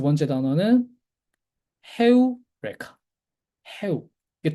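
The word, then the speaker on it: εὕρηκα: 헤우레카라는 말은 다들 사실은 알고 있는 말인데 유레카 그 아르키메데스였나? 아르키메데스였는지 그 수학자가 뭔가 발견하고 나서 이제 뭐 발견했다라고 외쳤던 그 말 있죠. 그게 사실은 유레카는 이제 영어식 발음인 거고 헤우레카예요.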